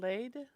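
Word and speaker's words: Leyd: Sam laid, but that's going to be in Celane, Idaho.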